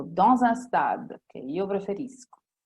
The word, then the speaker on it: dans un stade: preposizione e in questo caso si può dire dans un stade, in uno stadio, o dans un stade, che io preferisco.